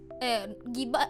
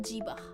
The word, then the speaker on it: gibah: You know, gibah not gibah is pronounced gibah, not jibah.